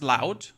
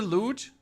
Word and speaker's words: loot: Even though I still feel like it should be pronounced loud. I know it's a loot, but everything in my German ass tells me that this should be pronounced loud and English is just weird again.